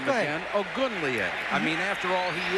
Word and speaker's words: Ogunleye: Let me pronounce his last name again. Ogunleye.